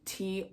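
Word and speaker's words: Táin: I thought it was the Tain. No, it's not. I go into the front because there's a whole pronunciation guide and how to say these words. Yes, it's pronounced, or like when you write it out, it's in these guides, it's Toyn.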